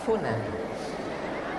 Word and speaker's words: tsunami: Gunakan bunyi 'tsa', tsunami. Bahasa Jepang. Orang Jepang juga memiliki cara pengucapan mereka sendiri. Jangan sampai salah pengucapan. Jika tidak, maka akan menjadi 'sunani'.